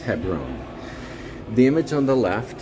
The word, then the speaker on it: Hebron: the image on the right apparently it is pronounced Hebron the image on the left is actually Tel